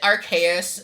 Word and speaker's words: Arceus: Alright, and then, JP, remind me, is it Arceus? Is that pronunciation?